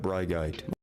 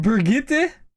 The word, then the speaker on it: Brigitte: Next up we got Brigite. Who? You mean Brigitte? Brigite, bruv. My bad, I mispronounced her name.